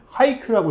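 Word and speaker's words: ハイキュー: 일본어는 배구로 보통 발리볼에서 따온 바레보르라고 하는데 배구를 한자로 쓴 다음에 읽으면은 하이큐라고 읽는다고 하네요.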